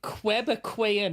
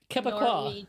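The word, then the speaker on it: Québécois: Saying Quebecoian is the wildest pronunciation I've ever heard.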